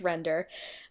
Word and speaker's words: Render: So it is called Render, and it's written in code, actual like HTML code. So it's got some punctuation in there, but it's pronounced Render.